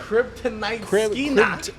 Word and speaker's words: Kryptonite Crib: Kryptonite Crib, it rhymes with crib tonight.